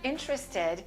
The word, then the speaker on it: interested: And of course, the word interested is also pronounced this way.